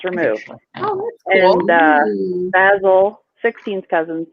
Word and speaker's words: Basil: You pronounce it like Basil, not Basil. Basil is the herb.